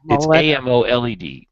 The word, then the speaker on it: AMOLED: employs samsung's amazing super is that pronounced amoled like amo led or amoled either one which means the